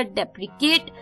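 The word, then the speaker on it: deprecate: जो दूसरा वर्ड था शाम का वो था डिप्र केट जी हां डिप्रेकेट जो दूसरा वर्ड था डिप्री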